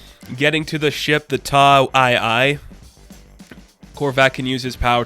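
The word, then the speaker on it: Taa II: And the plan is kind of like, they need to go to Ta 2, which Ta 2, or Ta II is how it's said in the book.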